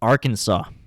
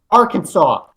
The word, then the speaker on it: Arkansas: akanza came from and the southern pronunciation was like arkansas our kansas it's our kansas that's